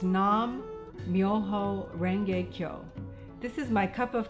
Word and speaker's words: Nam Myoho Renge Kyo: The essence of this practice is Nam Myoho Renge Kyo, pronounced Nam Myoho Renge Kyo.